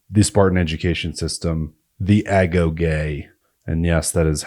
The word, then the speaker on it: agoge: dive analysis of the Spartan education system the ago gay and yes that is how you pronounce it I am welcome to